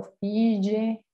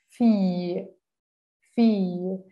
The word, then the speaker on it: fille: En lugar de yo decir file o fille, voy a decir fi, fi. Ya saben que la E final en francés no se pronuncia, al menos que esté tildada. Entonces, es como si esa I se alargara. I, fi, fi. Esa es la forma correcta.